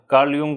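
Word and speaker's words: Jung: यस तो जे को या बोलते हैं यूंगफ्राव हां जैसे कार्ल कार्ल कार्ल यंग को क्या होते है कार्ल जंग स्पेलिंग है लेकिन spelling यंग कार्ल यंग यस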